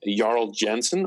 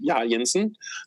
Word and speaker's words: Jarl Jensen: Uh, I will be, uh, transferring, uh, that blog to my my personal name, Yarl Jensen or Yensen, depending on the language you want to say my name in.